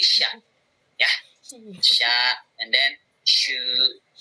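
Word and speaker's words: しゃ: Kalau misalkan ada ya-nya, ya dibacanya ini kan shi. Kemudian ada ya, berarti ini bicara jadi sha. Biasa aja. Bukan sihia tapi sha.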